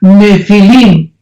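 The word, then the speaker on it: nephil: y pH intermedia nepil se pronuncia nefil en el original hebreo esta palabra en su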